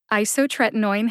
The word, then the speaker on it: isotretinoin: second drug name isotretinoin isotretinoin has five syllables the first syllable I in isotretinoin gets the secondary emphasis what does that mean it means you emphasize I but not as much as you emphasize the third syllable which is tret see if you can